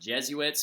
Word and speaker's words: Jesuits: an order of Catholic priests known as the Jesuits right okay now actually pronounced Jesuits but anyway the big thing about it is